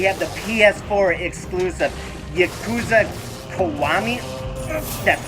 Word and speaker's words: Kiwami: Next on the 28th, we have the PS4 exclusive Yakuza Kiwami.